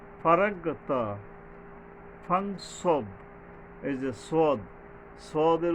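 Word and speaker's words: ص: গিয়ে মানে হালকাভাবে সফলি মিসবে আর কি ফারাগাতা সদ এইযে সদ সদের উচ্চারণে সাবধান হতে হবে সদটা হল জিহ্বার আগাটা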